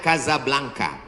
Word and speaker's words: Casablanca: nama negaranya Maroko ibukotanya tulisannya Casablanca cara bacanya Kasablanka Kaza artinya rumah blanka